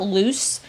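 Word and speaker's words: Luz: is to check out loose on uh instagram spotify youtube that's spelled l-u-z we're pronounced loose like goose and uh yeah we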